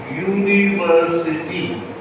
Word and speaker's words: university: use I am but notice how you pronounce University it is actually my y o u or y u it is a consonant right so it is